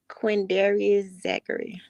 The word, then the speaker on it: Quindarius Zachary: So you're Lil D's sister, and do you mind pronouncing his legal name for us? QUINDARIUS Zachary.